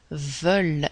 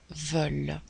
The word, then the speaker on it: veulent: il est le pluriel veulent et on va prononcer ent comme un e veut le veulent ok le verbe pouvoir